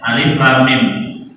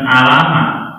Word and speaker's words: الم: Ini kan dibaca huruf apa ya? Alif Lam Mim, bukan alamat, ya kan?